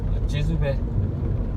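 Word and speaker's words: ကျေးဇူးပဲ: Jizube. Jizube.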